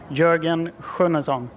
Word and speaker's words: Jorgen Sjunnesson: we'll get it right from the source the pronunciation of your name first of all Jurgen kazon all right welcome to North America we were